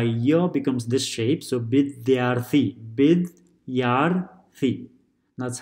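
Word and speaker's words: विद्यार्थी: becomes this shape, so bidyarthi, bidyarthi, that's how it's separated, bidyarthi, bidyarthi, bidyarthi. So if you write, let's see here, bid, da is pronounced with b as well as dya, bidyarthi.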